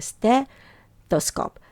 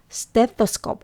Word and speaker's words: stethoscope: 듣는 거죠 그래서 그렇게 스더 scope 스더 scope 어 어려워요 스 하고 더 th 발음이 그래도 좀 들릴 수 있게 발음을 해 주시면 좋을 것 같습니다 자 그리고 체온계도 종종